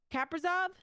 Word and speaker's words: Kaprizov: Kaprizov. He honestly. Did I pronounce that right?